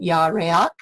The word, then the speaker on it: Yahuah: That was the first number that showed up, and there were 26 listings, and there is the Hebrew pronunciation, Yahuah.